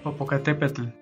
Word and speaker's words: Popocatépetl: I'm gonna put the actual pronunciation here. Popocatépetl.